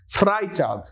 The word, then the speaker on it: Freitag: stock Donner stock Friday once again e i e i so f r e a fry fry dog Freitag and Saturday zamstag zamstag